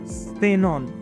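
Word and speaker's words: Xenon: एस, एक्स काट दो। अब एक्स की जगह हम सपोज करो एस लगा दें तो क्या बनेगा? सेनॉन, सेनॉन। सो साइलोफोन, सेनॉन। इसकी प्रोनाउंसिएशन आपने भूलनी नहीं, बाकी सेम रहेगी।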